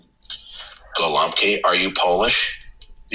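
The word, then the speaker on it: gołąbki: Um that um the word uh for stuffed cabbage in Polish it's pronounced goki. Gowki.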